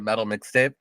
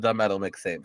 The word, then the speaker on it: the Metal Mixtape: Nobody ever pronounces it because everybody always calls it Metal Mixtape, and you're one of the only people that call it the Metal Mixtape.